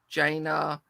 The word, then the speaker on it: Jaina: That's Jaina. That's how it's pronounced.